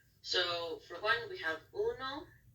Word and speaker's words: uno: for one we have Uno we have our U H pronounced as the uh two o's which meant the ooh noise those which means two